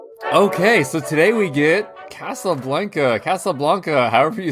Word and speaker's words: Casablanca: so today we get casablanca casablanca however you say it i think why actually so you may have found two it is actually from the spanish so i guess we should pronounce it casablanca yeah casablanca yeah yeah